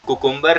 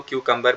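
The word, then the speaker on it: cucumber: quick क्यूकर खीरे को हम क्यूकर बोलते हैं कुकुंबर नहीं होता क्यूकर ओके प्लीज ट्राई ककं ककं अच्छा यहां पर एक चीज नोट करने वाली है जब मैम ने बोला तो क्यू कंबर बोला जैसे मैंने बोला सकीना ने बोला क्यू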